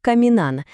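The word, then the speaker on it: caminan: Виходить каміна наголос на передостанньому складі.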